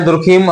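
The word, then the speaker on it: Durkheim: हिंदी में जो प्रोनाउंसिएशन है मोस्टली हम लोग दुर्खम ही बोलते हैं इनके लिए। लेकिन जब आप इंग्लिश का प्रोनाउंसिएशन आप इसको देखेंगे पढ़ेंगे तो इनको डारकाइम कहा जाता है।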